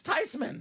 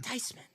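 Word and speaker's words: Theismann: we Gucci you know why cuz it's not pronounced Tean it's tysman tysman tysman Marty that a boy Washington Triple sign speed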